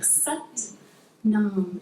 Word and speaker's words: sat nam: For set creo, we work with the mantra sat nam. It kind of rhymes with but mom sat nam.